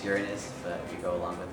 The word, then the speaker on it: Uranus: and of course the where's Uranus they mispronounce it it's Uranus but we go along